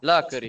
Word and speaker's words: Lääkäri: Lääkäri. Lääkäri. Lääkäri. Lääkäri. Nakari. Lääkäri. This language, it's an easy language. You know, the intonation is always, the intonation and the stress is always on the first syllable.